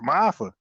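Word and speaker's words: Maafa: Now MAFA, MAAFE was the acronym, but it pronounced MAFA.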